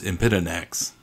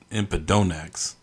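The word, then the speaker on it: Empidonax: This video's featured creature is a member of the genus Impidonax, or Impidonax, whichever way you choose to pronounce it, a group of flycatcher species that are very similar in appearance to each other.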